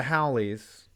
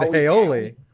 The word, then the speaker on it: Hawaii: In my video, I said Haoli, which is not the right way.